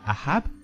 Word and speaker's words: Ahab: C'est la tristesse de Ahab, ou Akab, selon les prononciations, lorsque Naboth lui a refusé de lui vendre le champ.